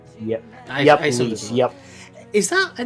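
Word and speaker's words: Lyse: It is pronounced Lise, right? Yep. I Lise, yep.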